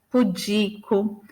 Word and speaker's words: pudico: E aí a gente tem alguns casos, só para ficar claro onde é a sílaba tônica. Então, filantropo, ibero, ínterim, libido, Lúcifer, misantropo, ômega, pudico, rubrica e ruim, né?